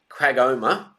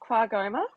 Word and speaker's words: QAGOMA: Uh, you you recently spoke on a panel at Quagoma Gallery of Modern Art in Queensland recently. Is that the right pronunciation? Uh, very close. Quagma.